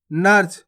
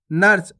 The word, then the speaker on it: नर्स: पढ़ेंगे अपन इसको नर्स आपको नरस नहीं पढ़ना अगर आप नरस पढ़ोगे तो इस प्रकार से पूर्ण रूप से उच्चारण हो जाएगा रा का यह क्या होगा नरस और जबक अपन पढ़ कैसे रहे नर्स तेजी से उच्चारण करना आपको नर्स क्लियर है अर्थ कैसे